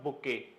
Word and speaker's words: bouquet: लेकिन जब मैंने बोला कलेक्शन ऑफ फ्लावर्स तो आपके दिमाग में आता है सर बुके। स्पेलिंग ध्यान से पढ़ लें, BOUQUET, okay, T is silent, बुके पढ़ते हैं इसको।